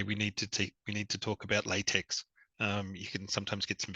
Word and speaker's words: LaTeX: to some academics that, as Andrew said, it's pronounced LaTeX, that you don't speak with a colleague or an academic and say we need to talk about latex.